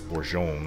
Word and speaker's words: Bourgogne: It's spelled in English, Bourgogne. But it's Bourgogne, I suppose.